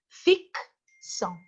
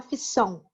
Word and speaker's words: ficção: Então você fala assim, ó, por exemplo, ficção, né? Porque eu ainda tenho esse C mudo sendo utilizado para que a palavra tenha o seu sentido. Né? Ninguém fala ficção, mas fala ficção.